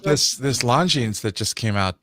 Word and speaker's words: Longines: I really like this Longines that just came out. Or Longines. I can always pronounce the S at the end by mistake.